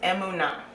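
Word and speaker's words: אמונה: So the Hebrew word for faith is emunah. So it's spelled like this.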